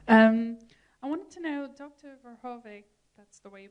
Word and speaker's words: Verhoeven: Verhoeven, that's the way you pronounce his last name, and you both stressed